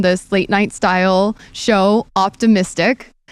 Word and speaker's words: Optimistic: So spelled like mystic. And we've got Positive Head, and then Optimistic is the evolution. He's quite the wordsmith. Wait, my brain sometimes is slow. How does Positive Head and Optimistic? Positive Head's the audio podcast, and then Optimistic is the TV show. Optimistic, like a positive. Okay. Right. So it's like he's optimistic, yes. but spelled like OPTI mystic.